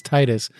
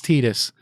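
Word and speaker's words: Tidus: from Final Fantasy 10 his name was Titus that's what it was intended to be pronounced as Titus but one trailer goofed up his name and forevermore it's tedious because that trailer goofed it up it's like no let's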